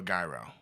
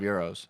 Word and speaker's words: gyro: baby Italian beef or Gyro oh Italian I just I literally just ate an Italian beef before I came here but I do love euros and it's it's pronounced Euro the g is silent I said gyro I'm